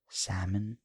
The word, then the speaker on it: salmon: like if you have the word salmon you don't pronounce the L in Salmon uh in Finish you